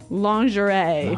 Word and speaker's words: lingerie: sexy underwear yeah now the spelling of this word is interesting isn't it yeah it's spelled l i n g e r i e lingerie lingerie yes don't you love English spellings so women's nice pretty